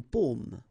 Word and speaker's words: paume: Okay, so you can see that I pronounce them a little bit, a little bit differently, but then we'll be careful that in many cases people will pronounce them the same way, okay, because in that case normally it should be a bit lower, pomme, and then here more open, so pomme, okay.